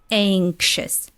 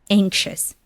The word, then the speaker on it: anxious: sound anxiety anxiety and when you use it as an adjective it turns into sh sound anxious anxious I'm anxiety I'm one